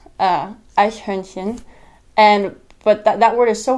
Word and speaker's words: Eichhörnchen: And it's Eichhörnchen. But that word is so hard to pronounce when you're first learning it. So it sounds like Eichhörnchen.